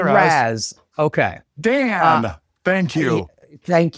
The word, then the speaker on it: Raz: Raz. Well, Matt, don't say it like that. I mean, just say it normal, man. Just hey, Raz.